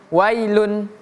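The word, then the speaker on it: ويل: W juga tidak boleh kita baca wi. Bukan w tapi langsung wai. Wailun. Oke. Wailun bukan wailu. Eh bukan wai tapi wa. Wail yaumaidin.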